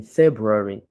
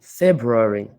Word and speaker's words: February: The colonel said he will come back in February ». Dans cet exemple, il y a deux mots particuliers auxquels il faut faire attention. « Colonel » et « February ».